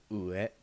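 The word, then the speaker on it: うえ: The final word that we're going to learn today is ue. This is the Japanese word for up. It's spelled u-e.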